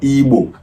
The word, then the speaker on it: Igbo: River Niger down to the southeast is called Igbo, IGBO.